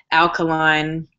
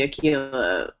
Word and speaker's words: Aila: mispronunciations of my name I get alkaline which is like you're not trying like it's very clearly Aila you just suck um